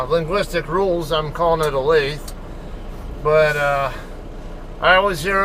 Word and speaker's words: Olathe: going by the normals or the um English pronunci yeah linguistic rules I'm calling it a lathe but uh I always hear other people call it different things a lot there or Olathe and whatever but I don't know I call